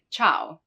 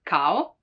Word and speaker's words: ciao: Now, the letter I can also be followed by some other vowels. In that case, it's not pronounced, like in ciao, ciao, hi, ciao. You don't say ciao, ciao. So it just modifies the hard sound and it makes it a soft sound, right? Not cow, but ciao.